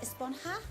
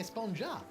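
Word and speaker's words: Esponja: huh actually it's pronounced a spawn half with an H sound at the end really we've all been saying a spawn job yes I know it's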